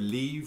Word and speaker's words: livre: We'll talk about the word leave or live. It's pronounced both ways, leave or live, depending on the regions of Louisiana you're in from.